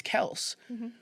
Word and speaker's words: Kelce: being like, I mean, the pronunciation is Kels, but I mean, people just say Kelsey, it flows, whatever.